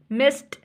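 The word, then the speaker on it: missed: आ रही है नेक्स्ट है एग्जांपल ऑफ टी टी वाली आस्क मिस्ड ठीक है मिस्ड आस्क अब देखें है ये भी पास्ट फॉर्म ही आस्क की और मिस की लेकिन इसमें टी साउंड आ रही है देखि यह वर्ड एंड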